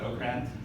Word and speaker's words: Okrand: some different expanding directions Marc Okrand as I found out today pronounced autocrat he's a linguist he